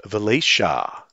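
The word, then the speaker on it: Velyshaa: And it turns out that Sandcroft is a knight of Velisha. So you've got to, it's a spelt double A, you've got to pronounce it Shah at the end of it.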